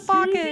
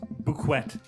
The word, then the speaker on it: bouquet: Oh, he's gonna make us a bucket. He would put together a bucket for me. No one's ever given me a bucket before. Ellie, goddamn. It's pronounced bouquet.